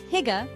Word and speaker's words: hygge: Hygge, pronounced hygge, is like this cozy, content feeling you get when you're surrounded by loved ones, good food, and a warm atmosphere.